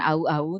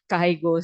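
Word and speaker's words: 会合: Kanji au dengan au ini kalau dijejerkan ya, bacanya bukan au au tetapi cara bacanya adalah menjadi ongyominya ya. Kaigo suru.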